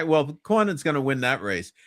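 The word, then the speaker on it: Cornyn: It's John Horn. You told me how to say it right. John Cornin.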